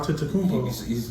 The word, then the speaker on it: Antetokounmpo: Antetokounmpo.